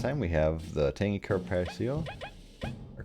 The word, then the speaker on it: carpaccio: Now, in terms of items keeping track of, just like last time, we have the Tangy Carpaccio, or Carpaccio, I think is actually how it's said.